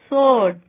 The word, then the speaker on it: sword: W is not pronounced in the following words: who, whose, whom, while, whoever, answer, sword, to.